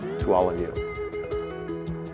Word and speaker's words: Tuolumne: word so we say to all of me to All Of You John Mur and the Sia Club were very